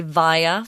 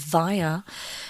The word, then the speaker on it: via: and I both se vaya they're both correct but i recommend via because that's what most people say so this is how